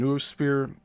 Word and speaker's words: noosphere: And noosphere is spelled Noosphere, so it's like nootropics.